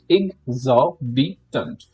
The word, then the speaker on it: exorbitant: Exorbitant. This like highlighted or bold part should be emphasized upon.